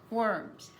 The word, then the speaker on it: worms: But because that R is there, they don't say anything. So this is birds eat worms. Skip the O, skip the I, skip the O. Don't even say it at all. If you do, you're going to change the word's pronunciation in a way that people may not understand you. It's birds, not bears.